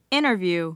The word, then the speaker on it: interview: 다 유효하지 않아요라고 그대로 하시면 되고 자 그다음 발음도 interview 그렇죠 interview interview고 하는데 영국식 바람은 티를 그대로